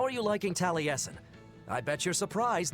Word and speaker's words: Taliesin: jaffe it's spelled just like that but they pronounce it apparently taliesin i bet that drive them drives him nuts